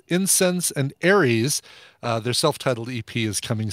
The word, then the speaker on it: Aries: But it's supposed to be Aries, A-R-I-E-S, like the astrological sign. Mm-hmm. The upcoming Tron sequel is called Aries. Oh, is that all? That's all. That's A-R-E-S, though, like the God of War. Yeah, that's true. Yeah. So, pronounced the same, though, right?